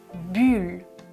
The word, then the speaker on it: bulle: Première paire, je prononce bulle, bulle. La langue touche les dents, bulle.